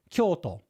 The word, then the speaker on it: Kyoto: old capital of Japan, Kyoto, it's pronounced like that with the accent at the beginningto.